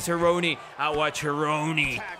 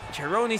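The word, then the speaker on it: Cerrone: posición que le conviene seron aoni como quieran decirle cheroni sería el nombre real por el apellido creo que la pronunciación Correcta Por ser italiano pero bueno aquí logra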